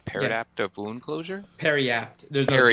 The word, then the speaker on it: Periapt: interested in over the shield potentially is a paradaptive wound closure. Oh, what? I think I'm saying it right. Paradaptive wound closure? Periapt.